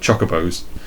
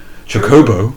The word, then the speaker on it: chocobo: to find out that what I assume were called chocobos were actually pronounced chocobo. Chocobo. Like it's like what? For 3 games I've been calling them chocobos.